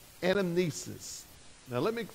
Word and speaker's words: anamnesis: And this term is called anamnesis.